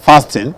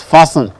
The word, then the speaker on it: fastened: fasten their belt fasten remember it's not fasting it is fastened fastened it is silent right now you the